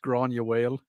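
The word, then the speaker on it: Gráinne Mhaol: Grain Uel, the movie. How do I actually pronounce that? That's pronounced Grania Whale.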